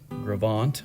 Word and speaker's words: Gros Ventre: you're interested in the grovant wilderness there is a website called Wilderness connect and you can find gravant on there it's spelled g-r-o-s-v-e-n-t-r-e and the U.S Geological Service as